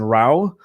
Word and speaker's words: Rao: for is with Jason Rao, which was, there's a funny story when you hear that, where he's like, oh, it's like cow with an R.